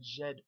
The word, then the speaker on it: Djed: like as in a Jed pillar okay now this DJ DJ is pronounced like a soft J like a letter J in English Okay so if you